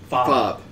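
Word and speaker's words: Fabre: louisville's new archbishop archbishop club yes f-a-b-r-e and the r-e is silent very very louisiana oh very much so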